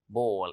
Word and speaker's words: bowl: This is called bowl. It has the same pronunciation like a ball, but it's not a kind of sports or a game.